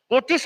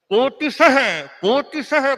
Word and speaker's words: कोटिशः: आदमी अच्छा कोटिस कोटिस, उच्चारण करे तो कोटिशः कंदन, कोटिशः बंधन, वहां विसर्ग है, कोटिशः।